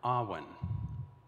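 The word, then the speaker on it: awen: welsh words and we begin with the word ahwan it's spelled a-w-e-n the next word that we're going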